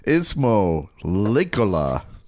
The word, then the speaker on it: Ismo Leikola: Please welcome to the show Ismo Lola.